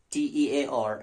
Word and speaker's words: tear: So as verb, T-E-A-R is pronounced as tear. As noun, it is tear. Same spelling, different pronunciation.